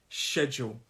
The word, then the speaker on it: schedule: a number of people schedule two syllable word and the stress of this word is on that first syllable schedule i sometimes do this with my hand schedule schedule to show you where the stress is schedule and schedule uh